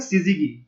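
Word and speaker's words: syzygy: को हम बोलते हैं सिजिगी। ठीक है दोस्तों, सिजिगी एक लैटिन ग्रीक शब्द से बना है, हम उसको सिजिगी बोलते हैं। ठीक है, इसको सिजिगी प्रोनाउंस करते हैं।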